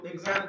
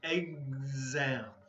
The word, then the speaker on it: exam: Public, private, okay, two syllables, private, cheat, don't cheat, elementary, abroad, exam, okay, so exam, this word here is going to be exam, okay, there's a Z sound, Z, genius, and report card,